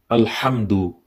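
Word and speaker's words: الحمد: Ha is a little bit to be recited through the middle part of our throat.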